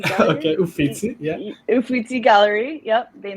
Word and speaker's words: Uffizi: Yeah, under the, I don't want to pronounce it wrong, the Uffizi Gallery or Uffizi Gallery? Okay, Uffizi, yeah.